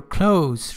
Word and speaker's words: close: two year for somebody or something for a close relationship remember close it has a say sound